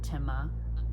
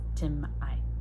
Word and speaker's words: Tima: And his name is one of those where he spells it T-I-M-A. And its root is actually T-I-M apostrophe A. And so there's actually a vocal pause there. So he pronounces it Timah. The official pronunciation is Timai.